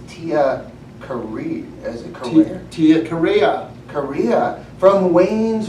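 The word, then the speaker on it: Carrere: Is it Korea?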